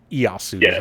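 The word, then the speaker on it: Ieyasu: this what easu is that who it was like to name easu is all it is it's i e Yu it's iosu tokuga is first name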